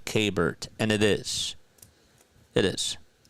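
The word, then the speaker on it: Keibert: I think the proper uh the proper pronunciation in Spanish would be Kbert.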